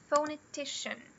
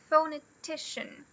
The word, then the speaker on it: phonetician: Então, ó, aqui a gente tem o apóstrofo invertido no começo. Isso indica que essa sílaba aqui é a secondary, não é mais fraca e também não é mais forte. E a mais forte tá aqui, ó, é o T. Então fica phonetician. Phonetician.